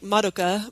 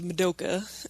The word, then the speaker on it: Madoka: I think because you're trying to do both the Japanese, like, Madoka, but, like, the way that we would say it, which is Madoka.